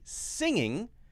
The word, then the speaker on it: singing: When you say singing, it's very important to say that ng sound because otherwise it will sound like the word sinning.